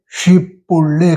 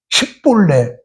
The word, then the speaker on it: 쉽볼레: 쉽다 그럴 때 쉽볼레 그래야 돼요. 쉽볼레라고 하는 나무 이름이에요. 그걸 발음시켜가지고 그 에브라임 사람들은 강 건너에 살기 때문에 멀리 살기 때문에 조금 사투리가 생겨갖고 쉽볼레, 쉽다고 하는 쉽볼레 그렇게 못해요. 십볼레, 1, 2, 3, 4,